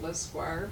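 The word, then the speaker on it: Lescroart: Notice how I pronounce it, Lesquire, for those of you who don't know.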